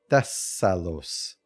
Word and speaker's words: Thessalos: Thess, not these. Thessalos.